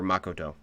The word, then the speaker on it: Makoto: that she loses uh makoto or makoto if you want to say it correctly um yeah her uh